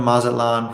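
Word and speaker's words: Mazatlán: Steven says, I've lived in Mazatlan for 5 years, and let me tell you, the heat gets oppressive.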